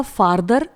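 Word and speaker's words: farther: अगर आप सेंटेंस लिख रहे हैं तो स्पेलिंग का ध्यान दीजिए, और यदि बोल रहे हैं तो प्रोनाउंसिएशन में भी काफ़ी डिफरेंस है। पहला हो जाएगा फार्दर, जिसका मतलब होता है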